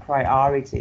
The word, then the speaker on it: priority: right yes so like you put like the stress on the second syllable so you have priority okay thank you so